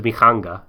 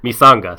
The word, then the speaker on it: Misanga: I thought it was Mikanga, but like maybe. Oh, Mikanga is pronounced like an S.